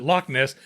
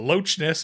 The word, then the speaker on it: Loch Ness: But they pronounced the CH. Oh. It wasn't Loch Ness. They called it the Loch Ness Monster.